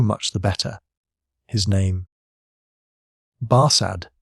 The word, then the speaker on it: Barsad: “Barsad,” said Defarge, making it French by pronunciation.